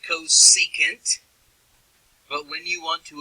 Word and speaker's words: cosecant: Sine has its own reciprocal, and it's pronounced cosecant.